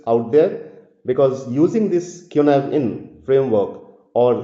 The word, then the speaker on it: Cynefin: all you leaders out there because using this Kunav in framework or sinfin in English if you exactly pronounce the word the the word but it is actually kunive in so this is a very good framework for